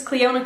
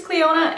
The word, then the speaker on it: Clionadh: I know it's spelled with a DH in the end, and that really trips me up because I don't know how to pronounce that. But I think it's Clionadh, and I have the